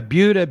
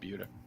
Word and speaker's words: Buda: Buuda be like Buddha. So, but it's called it's pronounced Buda.